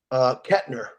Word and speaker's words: Koechner: Koechner. There's no T.